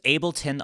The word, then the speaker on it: Ableton: To answer your question, the DAW that I use is Ableton 11.